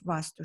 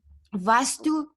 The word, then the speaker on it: Vaastu: So basically that is the essence of Vaastu Shastra. So Vastu is energy, Vastu with one A. Vaastu, two A's, or they pronounce like R.